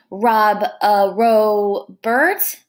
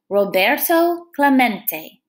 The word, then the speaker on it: Roberto Clemente: heard the announcer stumble through the spanish name rob a row bert um let's see to clement it echoed in the near empty stands roberto clemente was his name and this is pronounced roberto clemente as if to introduce himself roberto smacked the